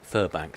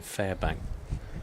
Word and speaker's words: Furbank: Furbank, sorry, I've been calling him Fairbank. I do apologize. Giving him a bit of a Hollywood pronunciation.